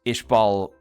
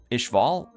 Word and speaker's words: Ishval: ends up encountering this Ishbal uh Ishval Ishbal or Ishval, it's pronounced differently depending on uh Brotherhood versus uh 2003.